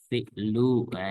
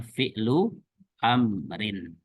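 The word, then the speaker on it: فِعْلُ أَمْرٍ: Dalam bahasa Arabnya adalah fi'lu. Nah, ini beda lagi kan. Amrin. Gitu. Bacanya fi'lu amrin. Bukan fi'lun, bukan. Tapi fi'lu amrin.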